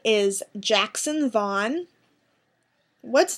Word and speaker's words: Vaughn: Vaughn, I just love the name. I think it's really nice. It's short, but it's long. Like, it's spelt long, but it sounds short because it's one syllable.